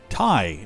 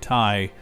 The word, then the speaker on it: Ti: in uh like you tie a tie we've called them a ti for years um but apparently the person that they had acting to do this the keynote speech uh pronounced it thai but anyway the 30-80